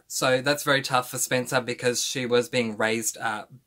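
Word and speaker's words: Spensa: is spencer uh and that is spelled s-p-e-n-s-a so not s-p-e-n-c-e-r that you'll pronounce spencer if you're american but spencer with an sa so just to avoid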